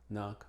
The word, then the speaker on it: knock: que vemos aquí Carey y es muda Generalmente antes de la n como nak nive night Now knock knock pero no en